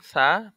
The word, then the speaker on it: ث: সা জিব্বার আগা হতে নরম ভাবে আদায় হবে, সা জিব্বার আগা হতে নরম ভাবে আদায় হবে।